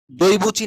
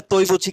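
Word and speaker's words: 对不起: আমরা দইবুচি না বলে তৈবুচি কেন বললাম? দইবুচি না বলে তৈবুচি কেন বললাম? যদি ডি থাকে তো সেটাকে ত দিয়ে উচ্চারণ করতে হয়।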